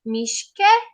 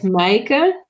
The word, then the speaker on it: Maaike: My guest is Mishke. Did I pronounce that right? No, it's Maaike, but it's Dutch.